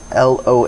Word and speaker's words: LOA: the studio is called loa is that am i saying that right yeah you're saying it right it's loa music that's